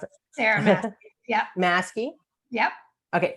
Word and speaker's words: Masci: Is that the right way to pronounce it? Sarah Masci. Yep. Masci? Yep. Okay, Masci.